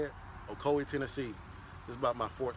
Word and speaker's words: Ocoee: we're in Ocoee that's how you say it Ocoee Tennessee just about my fourth time coming here